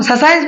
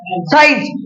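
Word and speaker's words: science: हम स साइंस पढ़ते अभी अगर मेरा सी साइलेंट होता तो क्या पढ़ते स साइंस पर इसको स साइंस नहीं पढ़ता इसको क्या पढ़ जाता है साइंस क्योंकि मेरा सी साइलेंट है क्यों साइलेंट है क्योंकि ये एस के बाद आता है अगर एस के बाद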